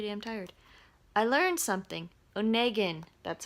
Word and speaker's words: Onegin: I look pretty damn tired I learned something Onegin that's how it's pronounced I was wrong at the beginning anyway